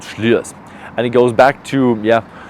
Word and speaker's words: Slyrs: You spell it Slyrs, but it's called Slyrs.